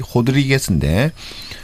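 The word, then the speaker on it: Rodrigues: 그때 이제 유명해졌던 노래가 아말리아 로드리게스. 어 이제 그 포르투카시 발음 이름은 이제 호드리 호드리게스인데 어쨌든 그때 이제 그분의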